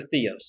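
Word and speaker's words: θεός: Theos thing Theos or Theos it's just two different ways of pronouncing the Greek words here and they're both okay it's just there's two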